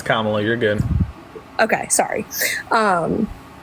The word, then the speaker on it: Kamala: I'm not trying to be disrespectful no it's KLA you're good okay sorry um but I think